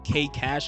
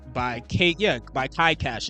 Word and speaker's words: Kai Cash: I hope I didn't mispronounce his name, but it was K Cash. Like, he jumped in as well with the song called Knicks in 6. I'm about to double check now, but I gotta make sure I didn't mispronounce his name. But yes, it was called, hold on, it's called Knicks in 6 by Kai Cash, excuse me.